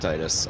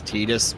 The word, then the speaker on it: Titus: I pronounce it Titus. I I think Titus. The official pronunciation according to uh Dadia or whatever it is. Yeah. Is is Tetus, but I can't.